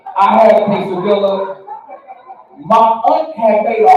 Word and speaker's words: quesadilla: I had a quesadilla, yeah, we pronounce our L's around here. I had a quesadilla.